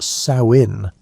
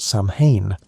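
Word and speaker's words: Samhain: Samine was a festival that people pronounced sin like the female pig, not Sam Hayne, which is what most people think.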